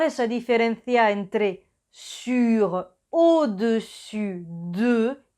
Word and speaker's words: au-dessus de: Y una cosita más, la S final de dessus y dessous es silenciosa, o sea que no se pronuncia. También existen au-dessus de y en dessous de.